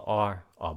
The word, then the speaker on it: our: Mình đọc là or boss.